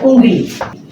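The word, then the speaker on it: उँगली: First one, ഉങ്കിലി. ആ ഉങ്കിലി, ഉങ്കിലി, അവിടെ ഒരു ഊ പറഞ്ഞിട്ട് ഒരു ങയുടെ ഒരു ഉച്ചാരണം കൂടെ വരുന്നുണ്ട്.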